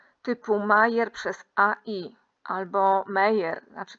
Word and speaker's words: Meyer: Gdybyśmy do tego doliczyli wszystkie warianty typu Mayer przez AI albo Meyer, znaczy w sensie wymawia się Mayer, ale pisze się Meyer, może tutaj dopiszę Mayer